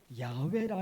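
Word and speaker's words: 야훼: 연구하는 성경학자들이 오랜 연구끝에 하나님의 이름이 여호와 그거보다는 야외라 이름에 가깝겠다 성경학자들이 그래요 그래서 하나님의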